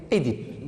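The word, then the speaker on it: Œdipe: il y a la première prononciation, on prononce Édipe. On dit Édipe, on accepte Oedipe, mais on ne dit pas Oedipe. Oedipe, on accepte maintenant, mais bien sûr, d'abord, on l'a prononcé avant, c'est Édipe. Donc, prononcez Édipe.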